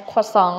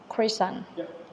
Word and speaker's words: croissant: And second one, when Pierre pronounced croissant as croissant, like the way French people pronounce it, because usually American people call it as croissant.